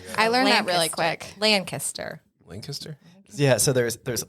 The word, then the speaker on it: Lancaster: yeah exactly exactly I learned that really quick lanaster lanaster yeah so there's there's Lancaster where I'm